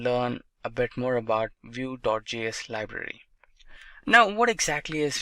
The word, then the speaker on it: Vue.js: GS is commonly referred to as View and pronounced as vuejs or view is rightly so now